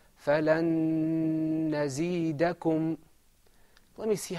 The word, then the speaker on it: فَلَن نَزِيدَكُمْ: In idgham, there's a lengthening of your voice, and I think you can hear it.